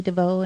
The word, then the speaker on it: Devoe: you just put in the search engine Devo and my name is spelled k n n e d e e